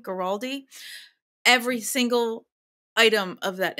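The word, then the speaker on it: Guaraldi: Vince geraldi that's how you say his name geraldi every single item of that entire album is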